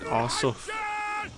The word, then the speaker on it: Arsuf: Arsuf.